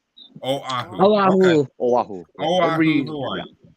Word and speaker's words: Oahu: So how do you pronounce this, Joe? Is this Wahoo or what? Oahu. Oahu.